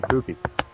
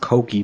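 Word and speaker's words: Kouki: First of all, it's pronounced Koki, believe it or not. Whatever, but... No, this is something that I'll touch on really quickly. It's actually pronounced Koki because whatever way the Japanese language works, U is pronounced O, and I didn't know that.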